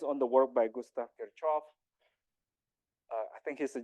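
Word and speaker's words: Kirchhoff: here because the because K Kos law sorry I've been mispronouncing his his his name kov uh law which is the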